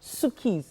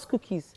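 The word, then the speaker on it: Sukee: Sukis. Yeah. Suki. Okay, so it's not Skookies. No, Sukis. S-U-K-E-E.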